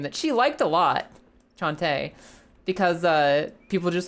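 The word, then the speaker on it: Cante: And uh her name Chante, spelled C A N T E. Chante. Maybe that's not immediately phonetically obvious how you say it, right?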